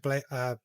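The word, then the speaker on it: Baszler: Io Sky defeated Shayna Blazer. Is it? I can never remember how to spell that pronunciation. Shayna Blazer. Blazer. Blazer. Because I always want to say Blazer, but there's no L there.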